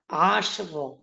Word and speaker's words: عشر: কিন্তু এই জায়গার মধ্যে আপনাকে শিন এবং রা উভয়টাকে একসঙ্গে ধরতে পারবেন। কেননা এই শিনের মধ্যে কিন্তু কলকলা নাই। তাহলে এর সঠিক উচ্চারণ হচ্ছে আশর, আশর।